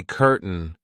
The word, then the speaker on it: curtain: where can we say curtain curtain the curtain Rises it kind of disappears but it's still kind of there so when we pronounce